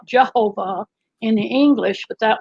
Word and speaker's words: Jehovah: english but that was because they added the j later on and so they you know updated the english but the j used to be pronounced like a y yeah right yeah languages